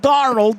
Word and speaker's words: Darnold: But talking about Sam Darnold, that's 2 syllables in the last name, but there's Sam starts it.